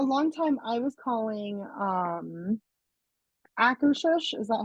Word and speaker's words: Akershus: So, I was calling it Acker House. oh, And oh, yeah. a Yes, client corrected me. It was like, there's no H. And I was, or there is an H, but at the end.